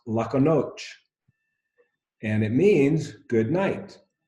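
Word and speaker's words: lahko noč: And this is pronounced lako noč.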